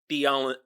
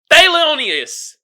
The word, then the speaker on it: Thelonious: He played Theolinus. I'm pronouncing that name all types of wrong. Thelonious. Whatever. I'm gonna call bruh T.